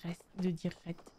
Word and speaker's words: Rhett: C'est bizarre de dire Rhett. On dirait que je dis arrête, mais sans prononcer le début.